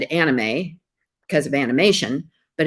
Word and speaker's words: anime: to start out with our japanese and hawaiian anime i always said anime because of animation but it's actually pronounced anime something i i learned recently and